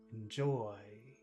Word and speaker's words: enjoy: to enjoy where's the accent in enjoy joy joy enjoy harsh and impossible to